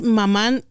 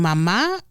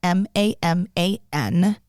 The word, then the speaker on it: Maman: Yes, so it's spelled Maman, Maman. It is the French word pronounced mama.